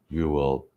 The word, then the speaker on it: Whewell: Whewell It's Whewell.